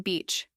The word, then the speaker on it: beach: Instead of being embarrassed, he repeated the sentence again, this time slowly, making sure to stretch the vowel sound in beach.